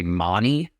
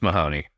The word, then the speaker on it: Mahoney: I think Monty is the standard pronunciation in Australia. They do weird things with A's and H's, I guess, looking at the McGrath name as well. You got that one wrong, Australia. It's Mahoney.